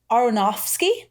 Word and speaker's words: Aronofsky: pay for Prime, but the director was Darren Aronofsky.